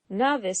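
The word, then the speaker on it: naevis: between your novice and your ey novice spelled n AE V is kind of a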